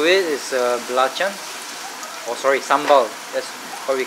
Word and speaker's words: sambal: what we call it what does sambal mean malay word it's not the what they call that that dance that rhymes with sambal what's the dance it's not samba that's the dance and samba is from